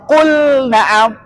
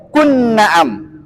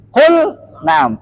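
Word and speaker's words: قل نعم: makhraj hurufnya ya Ah maka di sini bacanya Qul Naam enggak boleh qun Naam Qul Naam karena wa Abin baca dengan jelas artinya jangan idghamkan nah kemudian huruf ha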